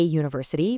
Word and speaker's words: university: We have a university because it starts with that U consonant sound.